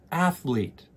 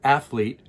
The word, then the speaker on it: athlete: Try saying it with me, athlete. And notice that the emphasis when we say athlete is on the first syllable, athlete.